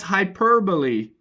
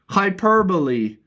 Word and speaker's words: hyperbole: Because I pronounced this word as hyperbole. Hyperbole. But it is, of course... wait, no, I pronounced it as hyperbole.